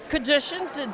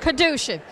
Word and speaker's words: Kadushin: And Kadushin, did I pronounce it right? Rhymes with revolution. Kadusha.